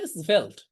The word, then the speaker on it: Svelte: আপনারা হয়তো অনেকে শোনেনই নাই, এটার উচ্চারণ হচ্ছে svelte। ওকে, svelte দিয়েও দারুণ দারুণ কাজ করা যায় এবং এটার কোড লেখাও অনেক সহজ।